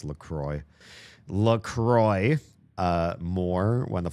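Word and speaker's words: La Croix: Kind of appreciate LRA. Oh, sorry. They're pronounced Lacroy.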